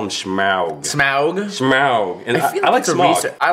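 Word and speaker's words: Smaug: the true pronunciation yeah the tolken estate owns pronouncing it like smog smog so we're going to call him smog but it's like I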